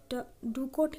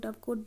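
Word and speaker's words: dovecote: So this is डूकोट कहते हैं, या फिर यहाँ पे प्रोनाउंसिएशन होता है डूकोट ही होता है, और हम लोग डबकोट भी कह सकते हैं।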